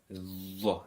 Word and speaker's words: ظ: Now this is where you stick your tongue between your teeth, Dha, and pronounce with a full mouth, with a rounded mouth.